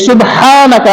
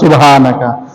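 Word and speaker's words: سُبْحَانَكَ: এই সুবহানাকা, এই হা এর উচ্চারণটা আমরা করি না, আমরা বলি সুবহানাকা। অথচ হা এবং হা সম্পূর্ণ আলাদা একটা মাখরাজ।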